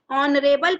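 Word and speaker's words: honourable: ऐसे ही हमारा third example है ऑनरेबल पर्सन, यहाँ पे भी एच साइलेंट है और ओ से।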